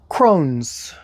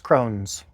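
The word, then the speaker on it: crosnes: Crones. C-R-O-S-N-E-S. Crones.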